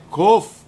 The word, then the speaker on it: Kof: continuar o livro Como é que a gente pronuncia essa essa palavra essa letra let a letra é Kof Tá certo e Kof nós falamos em hebraico